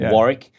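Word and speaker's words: Warwick: But the the correct pronunciation is Swanic. It's the silent W. Just you know like Warrick.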